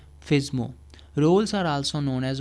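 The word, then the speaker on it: FSMO: FISMO roles, the full name or full form is Flexible Single Master Operations or FISMO, sometimes pronounced FISMO।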